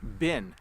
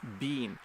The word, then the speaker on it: been: to note is that we say bin when we are speaking quickly we don't say being in fact it's very